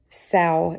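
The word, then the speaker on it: sough: Fantastic guys would be just what he needed sa is pronounced it said um Peter could hear nothing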